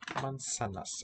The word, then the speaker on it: manzanas: ¿Tú comes manzanas? Tú. You drink. I drink. Tú comes. You eat. Do you eat apples? Mansa. So we spell it with a Z, but it sounds like our S.